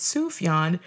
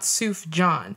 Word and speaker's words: Sufjan: a heads up that his name is pronounced Sufjan not tzuf john so much love and